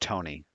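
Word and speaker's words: Toney: Jeff, his name Do is you know pronounced Tony.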